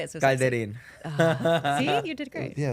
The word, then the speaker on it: Calderin: Calderin.